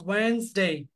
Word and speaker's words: Wednesday: The first one is Wednesday. Wednesday means D is silent letter. D is silent. So Wednesday.